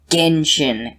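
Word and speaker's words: Genshin: on a subreddit for gentian impact it's pronounced genjin impact also you haven't really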